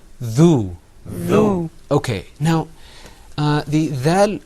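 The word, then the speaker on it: ذال: Well, when you're pronouncing dhal, the most important thing is to pull the corners of your mouth back. You're going to say dhal.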